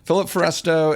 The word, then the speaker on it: Philip Foresto: Philip Foresto, and that's how you spell it.